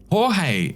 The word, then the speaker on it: Jorge: George is pronounced Jorge.